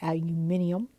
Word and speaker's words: aluminium: We look at the atomic mass, which is 26.9815 grams of aluminum, or as the British say, aluminium.